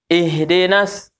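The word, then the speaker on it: اهدنا: The Climb Hai nah ini Ih Ih jangan bacanya ih ih itu e ih tapi ih ih ih jangan Bachsin yuk ihdinas ihdinas Eh jadi ya Wih ihdinas sih nanya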